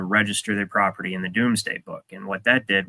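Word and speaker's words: Domesday: the does day book it's spelled D o m s D- a y but it's the Doomsday Book and this is a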